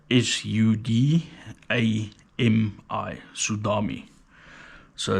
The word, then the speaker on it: Sudami: the sudam XR Cas length drummer so uh it's spelled s u d a m i sudam so it's a local South African